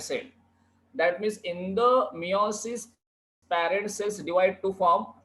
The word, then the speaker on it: meiosis: How it is pronounced? It is meiosis.